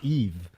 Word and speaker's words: Yves: You always pronounce the S in my name, and the S is silent. My name is Yves.